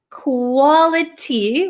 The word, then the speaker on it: quality: So again uh let's look at the pronunciation quality. We can say quality but this t um is surrounded by two vowel sounds. So this becomes a flap t right.